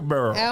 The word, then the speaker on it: Barrel: Down at the Cracker Barrel. Okay. That's how they say it in Kentucky, the Barrel. The Burl.